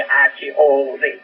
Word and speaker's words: Hod: Y a Hod, se escribe H-O-D, Hod, cuerpo astral.